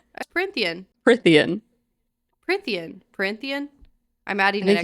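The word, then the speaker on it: Prythian: Corinthian? Prithian.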